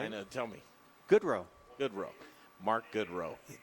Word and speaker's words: Goodrow: Goodrow. Mark Goodrow. It's right there in front of me, but it's spelled like God Renault. Mark Goodrow, Trubucha.